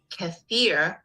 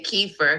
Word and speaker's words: kefir: k e e f i r and it's pronounced kefir I say Kiefer because I'm from New York you know I